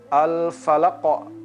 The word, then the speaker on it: Al-Falaq: Al-falaq, qalqalah pada huruf qaf. Kita membacanya falaq.